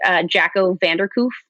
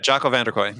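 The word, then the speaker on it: Jacco van der Kooij: I was recently listening to, I'm going to pronounce his last name wrong. Jacco Vanderkoof, Winning by Design. Right. That guy. Jocko Vanderkooy. Exactly. Thank you.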